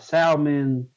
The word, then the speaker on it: salmon: The L Salmon. is silent.